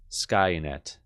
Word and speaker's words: Skynet: So I'm going to write this out phonetically as I can without really using IPA. Ska. Net. Skynet.